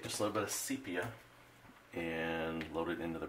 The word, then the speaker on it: sepia: for pronouncing it wrong i used to like to say sepia but it is not so i have been corrected and it's called sepia but that's still a challenge